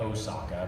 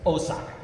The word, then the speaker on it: Osaka: think she's from uh uh we call it osaka but it's osaka that's how it's properly pronounced and so doing a line like cine